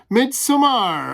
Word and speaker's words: Midsommar: And that's right, Midsommar. I am going with Jay of the Dead's preferred pronunciation on that one because that's how it's spelled.